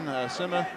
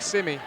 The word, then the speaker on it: Simi: As you said, that's a young man who had a nice fall season, Sima. Am I pronouncing that correctly, Rick? I believe it's Zach Simi.